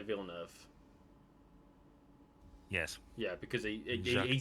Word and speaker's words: Villeneuve: Venelu. How do you say that? Well, I don't know. Without reading it, I can't really tell you. Villeneuve.